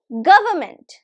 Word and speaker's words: government: So it is pronounced as, listen carefully, government. Government. Can you hear any R? So we don't pronounce the R.